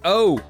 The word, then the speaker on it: Eaux: I have boudin balls like 5 times a year and EAUX is pronounced O.